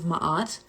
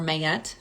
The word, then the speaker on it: Ma'at: the 42 ideals of ma'at or mayette depending on how you pronounce it but ma'at is